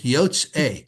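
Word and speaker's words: יֹצְאֵי: Yotz A. Yotz A. Good. Yes, two syllables. Yotze. Good.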